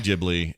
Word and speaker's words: Ghibli: about today from studio ghibli ghibli and the angry inch i will still never remember that it's a soft g i'll never remember it